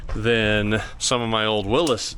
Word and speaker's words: Willys: some of my old Willis Jeeps which is I believe the proper way to say it but I've said Willies for forever too cuz all the old men that I ever talked to they always just called them Willys but I believe it was called Willis Overland.